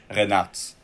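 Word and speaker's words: Reinartz: Arnaud, drop the correct pronunciation. Renat.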